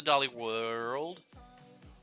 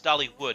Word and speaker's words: Dollywood: All right, let me pull up the Dolly World. Dollywood. Dollywood. It's Dollywood, not Dolly World.